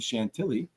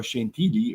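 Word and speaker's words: Chantilly: Huck and York on Saturday and then we're going to go off to Chantelli or Shantigi or however Tom pronouncs it in the French way for Sunday h in France.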